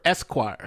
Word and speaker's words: Esquire: video by Hemstead rapper Esquire so it's like a lawyer Esquire but he's like the letter s and choir which pretty interesting whose